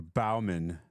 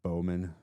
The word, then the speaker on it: Bowman: Oh, you're Bauman. It's Bowman.